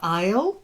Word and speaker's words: isle: did very well uh Isle silent s like in Ireland wounded